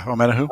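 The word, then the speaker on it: Omenihu: This year, I think is his last name pronounced Amenahu? Yeah, Omenahu. Okay, Amenahu.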